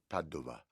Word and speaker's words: Padova: Padova.